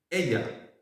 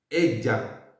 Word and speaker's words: ella: El siguiente término es ella. Ella. Ella. Si se fijan, se ocupa la doble L y en español la doble L se pronuncia como la letra G, como la G, ¿cómo es?